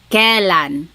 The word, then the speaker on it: kailan: You might hear some people say kailan. Sounds like an E, but it's technically spelled with an AI.